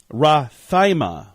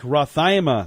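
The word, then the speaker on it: rhathymia: It is Rathaima. What do you think Rathaima means, Heidi? I have no idea. Let me spell that for you.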